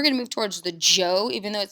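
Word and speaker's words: Zhou: discussion then we're going to move towards the Joe even though it says the H it's actually pronounced like a.j the Joe dynasty which lasted for a significantly longer period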